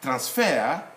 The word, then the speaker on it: transfer: Okay, here we say transfer is a verb. Transfer is a noun. So, as a verb, we stress on the last syllable, transfer. As a noun, transfer, like that.